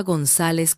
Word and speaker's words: González: Pronunciaba González con Z de Argentina. Yo lo digo con C como mi padre.